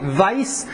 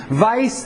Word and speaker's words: Weiss: First of all, interpretations of Jesus by Weiss. It's German, so the W is pronounced V. Weiss and Schweitzer.